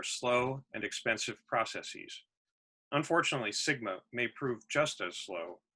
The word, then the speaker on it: SGMA: The alarming slide in California aquifer levels led to passage in 2014 of the Sustainable Groundwater Management Act, or pronounced as the acronym SGMA.